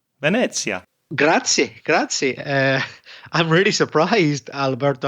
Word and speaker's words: Venezia: Reza, perfect pronunciation. Venezia.